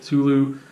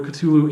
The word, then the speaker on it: Cthulhu: concept of Cthulhu, which I know some people pronounce differently, but I'm going to go with Cthulhu.